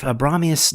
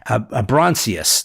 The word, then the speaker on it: Abronsius: So you get the idea if Abramius never show I can't say his name right. Abronsius, that's it.